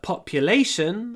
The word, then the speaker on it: population: What is the population of your city? Population. Ударение на A, значит, мы чуть-чуть вот задерживаемся на L.